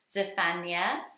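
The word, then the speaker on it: Zephaniah: from the Old Testament what about the name zephania zephania so this is how you say it I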